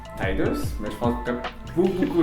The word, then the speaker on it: Tidus: Donc on va commencer par le personnage principal que moi, je le prononce Tidus, mais je pense que beaucoup de gens vont prononcer Tidus.